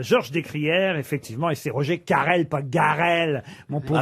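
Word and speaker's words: Roger Carel: Alors Guerchard, c'était le commissaire d'Arsène Lupin et c'est Roger Carrel qui le jouait. Excellente réponse de Bernard Mabille. Attendez, je donne le nom et vous vous donnez un Non, vous avez avis. dit Roger Garrel.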